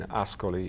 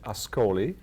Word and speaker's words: Ascoli: But by the way, let me thank you for pronouncing Ascoli in the proper way. I know it took some hard work on your side, but actually I'm known as Ascoli.